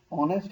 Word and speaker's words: honest: airship, an email, an honest person। अब देखें honest है but h is silent here, ठीक है, h से